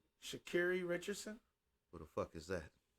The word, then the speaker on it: Sha'Carri Richardson: I think she prefers it to be pronounced Sha'Carri Richardson.